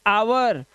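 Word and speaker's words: hour: से पहले H honest, ओ से पहले एच आवर, और ओ से पहले एच इको।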